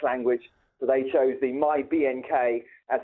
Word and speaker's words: MyBnk: This was back in the beginnings of tech language, so they chose the MyBnk as it's pronounced MyBank, but without the A, because they thought it was cool.